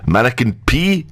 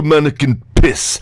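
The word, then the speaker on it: Manneken Pis: Of course, the mannequin P is how you pronounce it if you're polite. If you're Flemish, you pronounce it in its proper inflection as de mannequin piss, and that's the only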